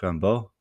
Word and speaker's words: Rimbaud: And you probably at this point know that I'm referring to Arthur Rembo or for the more French pronunciation Rambo.